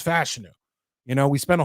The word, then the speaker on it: Fashanu: Was it Fashanu? Like, it took forever. And from what I'm to understand, it's Fashanu.